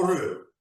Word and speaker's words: heureux: Heureux ou heureux? Je pense qu'il faut prononcer mieux heureux.